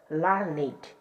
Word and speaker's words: learned: as learn it and pronounced with two syllables learn it hear it pronounced as